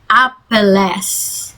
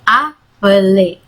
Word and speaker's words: appeler: Misalnya appeler bukan appelles, tapi appeler.